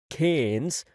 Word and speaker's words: Cairns: The flights from New York to LA, then to Brisbane, and finally up to Cairns, which Aussies seem to pronounce Cairns, hadn't had any major delays, but he felt as though he'd been traveling for days.